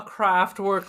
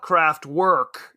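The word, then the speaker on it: Kraftwerk: it mean Factory but why do you call it craft work instead of craft work because I am not German you have to do the proper pronunciation Aaron very upsetting it's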